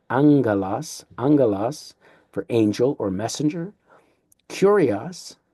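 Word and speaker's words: ἄγγελος: Now we see that double gamma, which makes it not agalos, but angelos for angel or messenger.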